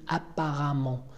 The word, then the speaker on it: apparemment: Hein, attention à la prononciation, on dit apparemment.